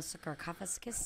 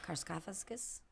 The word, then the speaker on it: sarcophagus: I'm a sarcophagus. Death could suit you. I could see that. Carcophagus.